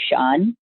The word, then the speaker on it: Shaan: to have you here my name is sean it's spelled actually s-h-a-a-n and i live in los angeles right now mostly anytime i tell anyone my name they almost always or they almost never spell it correctly because it's not a very common spelling for the name sean at least here in this